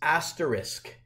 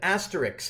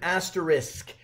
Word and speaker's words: asterisk: We can use it for multiplication in an equation, but its proper name is asterisk. Many people call it an asterisk, and it just drives people like me crazy. It's an asterisk. If you're going to say it right.